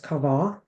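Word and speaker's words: קוה: It's Q-A-V-A-H, pronounced kavah.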